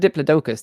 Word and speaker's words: Diplodocus: He's a I say Diploicus, but I've heard Diplodocus, too. How do you How do you pronounce that?